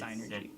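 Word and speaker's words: Psynergy: No, it's Synergy. It's Synergy. Spell it.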